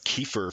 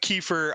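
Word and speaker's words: Kiefer: we we wrote down Kefir for some reason, like Kefir Southerntherland. So, and Oh, he's he's totally a pthead, too. Well, yeah, because his name rhymes with reefer.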